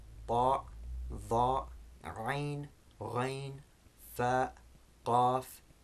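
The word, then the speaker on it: قاف: So again, you can hear the similarity, but they shouldn't both be pronounced like the English K. That's only the kaf, the second of the two. The first one, the qaf, is the clicking sound, qaf, in words like Quran.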